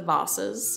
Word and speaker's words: vases: So I'm going to teach you how to sketch the vases or the vases if you're from the Britain or Australia or somewhere that pronounces it with a long A.